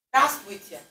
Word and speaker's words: Здравствуйте: Здравствуйте. So if I address all of you, of course it's plural. Здравствуйте.